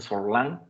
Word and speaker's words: Sorlin: que te refieres a Pierre Sorlin, o Sorlin, o bueno, le dicen Sorlin, según así se debe de pronunciar, Marc Ferro, o Marc